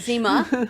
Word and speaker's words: Zima: Zima. Zima. It was Zima Oh, or okay. Zena?